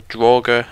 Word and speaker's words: Draugr: He's got a lovely Draugr scourge up there, or Draugr, as someone decided to tell me I was saying it wrong.